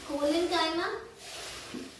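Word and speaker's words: collenchyma: Please इनकी pronunciation और इनको बोलने का तरीका अच्छे से सीख लेना। पैरेन्काइमा, कोलेन्काइमा एंड स्क्लेरेन्काइमा।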